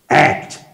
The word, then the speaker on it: ACT: Alda Communication Training, or ACT. You got to say it like that.